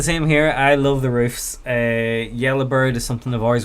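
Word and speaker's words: Ruf: It is pronounced roof, thank you, and I know this because I met the man himself.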